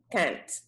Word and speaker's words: can't: can't can't judge people can't make sure you pronounce that p because it can sounds like the opposite okay so that's an